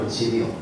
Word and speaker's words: Monsignor: Actually, it's pronounced Monsignor. It's a Gaelic word for I think my Lord.